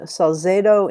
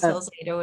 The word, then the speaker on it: Salzedo: theory ensemble work improvisation and pop music using salzedo influenced method did i pronounce that correctly carlos salzado is a yes harvest yes okay she thinks